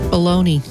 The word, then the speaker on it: bologna: Bologna.